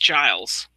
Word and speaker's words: Giles: Yes, and he assured me it's pronounced Giles.